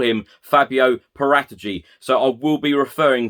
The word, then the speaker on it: Paratici: name as well now every italian journalist everyone who covers italian football actually calls him fabio paratagy i know a number